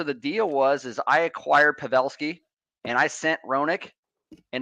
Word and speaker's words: Pavelski: We got Pavelski for Dallas. Pavelski, thank you. Yeah, that's right. And we got Roenick for Vancouver. And so the deal is I acquired Pavelski and I sent Roenick, and it was straight up.